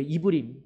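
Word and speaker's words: עברים: 이 히브리인의 그 뜻이 여러분 어떤 뜻이냐면 우리 한글 발음으로는 히브리인인데 이 히브리 발음으로는 이브림이에요. 이브림.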